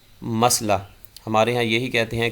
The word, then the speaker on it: مسئلہ: درست تلفظ اس کا مسئلہ، اس کا معنی ہوتا ہے حل طلب معاملہ، سوال۔ تو صحیح لفظ جو ہے یہ میم کی زبر کے ساتھ مسئلہ درست تلفظ ہے، اور غلط تلفظ مسئلہ۔ ہمارے ہاں یہی کہتے